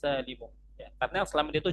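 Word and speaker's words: السالم: Orang-orang banyaknya mengatakannya dengan as-salimi, dengan mengkasrahkan mim. Padahal as-salim di sini bukan sifat untuk muannas, melainkan sifat untuk jamaah. Maka yang benar cara bacanya adalah jam'ul muannatsis salimu.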